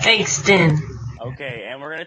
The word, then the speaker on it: Bankston: to touch base on, is it Caleb Bankston or Caleb Bankstow? I don't mean to mispronounce that. Bankston.